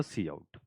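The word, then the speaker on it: cout: ठीक है, ऐसा आप ये हम लोग इस तरीके से इसको प्रोनाउंसिएट करते हैं, सी इन और सी आउट।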